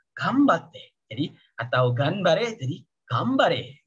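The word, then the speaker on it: 頑張って: Tulisannya memang ganbate, tapi kalian bacanya jadi gambate.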